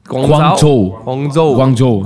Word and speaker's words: Guangzhou: Is that the right way to pronounce it? Guangzhou.